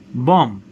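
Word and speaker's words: bomb: with silence B sound read the following words with silent B sound that means you're not going to pronounce but examples of this words Bom Bom plumber plumber climb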